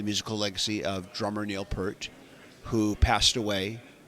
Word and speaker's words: Peart: I've been pronouncing his name as Peart for like decades now. It's actually pronounced Peart. Right. Peart, that's Yeah, right.